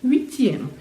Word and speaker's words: huitième: Septième, huitième. E lembra que o U é o U e depois tem um I. É como um huit, huit. Então faço o biquinho, huitième. Huitième.